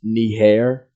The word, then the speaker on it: Niger: This country here, it's actually pronounced Niger, but a lot of